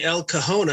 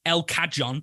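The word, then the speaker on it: El Cajon: 1st I'm actually really proud of you for getting El kahone I was waiting for ELC to come out differently only because as Grant was doing his pick a quickly Google translated how' you pronounce this because I would have said we have a model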